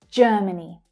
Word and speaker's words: Germany: So we have the same vowel sound and the first syllable is the stressed syllable, J, J. That's the as in her vowel sound. Germany, many, Germany. The two second syllables are reduced and unstressed.